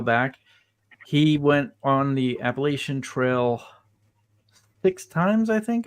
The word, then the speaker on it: Appalachian: properly yeah is I know it's difficult to pronounce um Appalachian it's um uh it's Appalachian Appalachian yes there